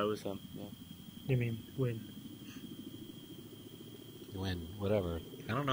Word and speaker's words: Nguyen: Yeah, it was him, You mean, Win. Win, whatever. I don't know how to say the Korean names. In Vietnamese. Vietnamese. It's right, guys. So... It's something weird. It looks like... Win.